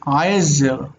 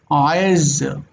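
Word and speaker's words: עזר: If you were pronouncing it more correctly with the ayin, it would be like aezer, aezer. It's like having a little colored A at the beginning of it that closes off the throat.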